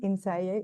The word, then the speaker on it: Innsæi: of course a co-director and script writer of ins do I say it right yeah ins yes in the SE within and it's available